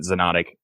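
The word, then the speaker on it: Xonotic: o n o t i c so you pronounce it xenonic but it's it's spelled with an x yeah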